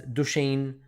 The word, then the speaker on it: Duchenne: 9, Kurban, 13 years old, has Duchenne, is that how you say it? Is that Duchenne? Yeah, Duchenne muscular dystrophy.